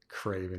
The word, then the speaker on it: craven: Craven, he said. Rhymes with raven. Rhymes nicely with raven.